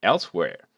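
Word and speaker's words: Elsweyr: of very home elsewhere it is pronounced like elsewhere and gives a pretty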